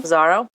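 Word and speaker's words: Pissarro: know how do you say this cam Camille pizaro pizaro yes blessed are they who see beautiful things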